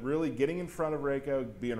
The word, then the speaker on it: Reiko: Reiko. Right. Did I say it right you that time? You said it wrong. Reiko.